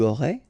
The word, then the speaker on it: aurais: J'aurais, tu aurais, il aurait, elle aurait, nous aurions, vous auriez, ils auraient, elles auraient. Okay, so one more time. J'aurais, final S not pronounced, tu aurais, same thing here.